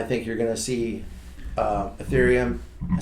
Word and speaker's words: Ethereum: That could hurt ETC a little bit, but if that doesn't go down, then I think you're going to see Ethereum, I said it right, and ETC both go up over the next couple Wait for the weeks.